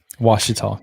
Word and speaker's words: Ouachita: Ouachita.